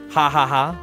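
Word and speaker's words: jaja: but they pronounce it haaha of course cuz J is pronounced like ha in in Spanish in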